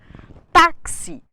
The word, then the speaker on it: táxi: de um assento gráfico táxi necessita do assento no caso Agudo na penúltima sílaba para que a palavra seja lida como paroxítona se não houvesse o acento os falantes tenderiam a ler a palavra como oxítona se nós não tivéssemos